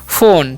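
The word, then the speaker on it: phone: और एन से न एक बात और भी ध्यान रखना है लास्ट में जो ई है उसका भी उच्चारण नहीं करना है तो इसे हम पढ़ते हैं फोन ठीक है उसी प्रकार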